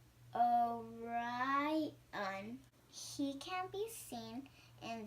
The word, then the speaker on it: Orion: is called the hunter the hunters name is Orion you say it like this oh right on she can be seen